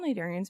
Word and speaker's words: cnidarian: they're in the family cnidarians which is actually spelled with the sea because latin is weird um and cnidarians are like jellies corals anemones that kind of stuff but they're called nidarians because they have stinging cells which are nidocites which is again also spelled with a c because latin is dumb but the anemone is